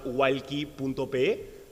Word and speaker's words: Wallqi: Ahí me encantaría invitarlos a visitar nuestra página walki.pe. Walki se escribe WALLQI.pe.